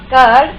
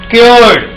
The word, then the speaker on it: cured: He has not cured your disease till now. Please speak the right word. CURD pronunciation is Disease. cured.